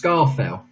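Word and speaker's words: Scafell: So question, well, it's pronounced Scarfell.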